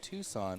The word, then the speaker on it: Tucson: That's how you say it, Tucson. Tucson. Yeah. What do you mean that's how you say it? Tucson. No, it's Tucson.